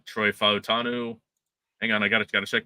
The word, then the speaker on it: Fautanu: As Gunner's saying, Troy Fautanu. Hang on, I gotta check my pronunciation guide.